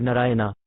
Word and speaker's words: Narayana: Narayana, pronounced Narayan, is a name for God, and thus unintentionally the old man was always chanting the holy name of the Lord.